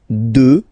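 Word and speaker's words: deux: 2. Final X not pronounced, okay?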